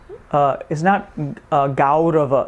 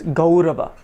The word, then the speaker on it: Gaurava: Now, this vowel is mispronounced a lot. It's mispronounced as Au, right? It's not Au. It's very important. So it's not Gaurava. It's Gaurava. Gaurava. Okay? So it's O, not Au.